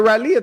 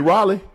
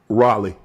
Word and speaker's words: Raleigh: You mean Raleigh? Raleia. Oh, okay. Oh, okay. Close. That's how you say it. How you say it again? Raleigh. You for real? You for real? Yeah. But it's spelled R A L E I G H.